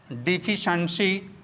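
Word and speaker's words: deficiency: अब आते हैं दूसरे शब्द CIENCY जिसका उच्चारण शंसी होता है। डिफिशंसी, डिफिशंसी, सफिशंसी, सफिशंसी, एफिशंसी, एफिशंसी, इनएफिशंसी, इनएफिशंसी, प्रोफिशंसी, प्रोफिशंसी।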